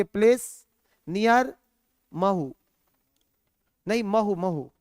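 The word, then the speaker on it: Mhow: होता है Chambal originate from a place near मह नहीं मह मह म नहीं है म उत्तर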